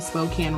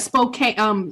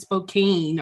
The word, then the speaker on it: Spokane: And I actually call it, Spokane. I think I said Spokane or something. I'm coming to Spokane. And somebody said, that's not how you say it.